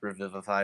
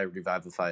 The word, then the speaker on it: Revivify: say it it's got revival i know it's pronounced revivify revival phi is funnier so crazy here i tired maybe